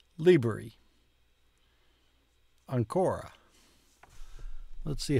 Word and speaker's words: liberi: I have come to the conclusion that the emphasis on most words is on the first syllable, not on the penultimate syllable. For instance, this word is liberi.